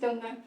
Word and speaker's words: Torngat: I was thinking about accessibility also, but in the sense that in Northern Labrador, like the Torngat, it's pronounced Dunguk, just a fun tip.